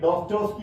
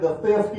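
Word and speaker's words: Достоевский: ലോക സാഹിത്യത്തെ അത്ഭുതപ്പെടുത്തിക്കൊണ്ട് മനോവിശകലനത്തിലൂടെ ചരിത്രത്തെയും സമൂഹത്തെയും വിശകലനം ചെയ്യാൻ കഴിഞ്ഞ ദസ്തയേവ്സ്കി, ഡോസ്റ്റോവ്സ്കി എന്നൊക്കെ ചിലർ ഉച്ചരിക്കുന്ന ദസ്തയേവ്സ്കിയാണ്. ഡോസ്റ്റോവ്സ്കി എന്ന പേരിലാണ് അദ്ദേഹം GN പണിക്കർ സാർ ഒരു പുസ്തകം എഴുതിയത്. പക്ഷെ പിന്നെ അദ്ദേഹം ദസ്തയേവ്സ്കി എന്നാക്കി മാറ്റി, ഉച്ചാരണം അങ്ങനെയാണെന്ന് തിരിച്ചറിഞ്ഞു.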